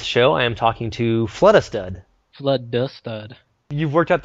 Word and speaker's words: FluddaStud: I am talking to flood stud flood stud you've worked out the pronunciation of your online name well my last name is flood so flood D stud and you're a stud so it works out